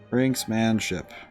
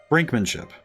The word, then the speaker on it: brinkmanship: Brinksmanship. Brinkmanship. Oh, so there's no S.